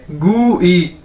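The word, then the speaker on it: 贵: अगर इसके साथ आई लग गया तो इसे हम कैसे पढ़ेंगे गू ई, ठीक है, GY गू ई, गू ई नहीं, एग्जैक्ट ई नहीं कहना, गू ई, ठीक है।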